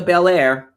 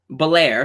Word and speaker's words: Belair: that's gonna be awesome uh we see Bianca Bair Belair excuse me Bianca Bair now this is the